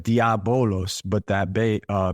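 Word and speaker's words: διάβολος: and it looks like diabolos but that ba uh beta is is pronounced like a V so if you didn't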